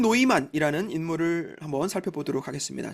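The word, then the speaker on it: Neumann: 서부 일대라고 보시면 돼요 언어는 당시에 주로 독일어를 썼어요 그래서 이름도 뉴먼이 안 하고 노이만이 발음을 합니다 당시 시골에서는 살이면 일을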